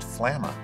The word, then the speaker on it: Flamma: say the name flamma flama well i'm from alabama and it's pronounced flamma that's how i remember this so here we go with flamma we're gonna start by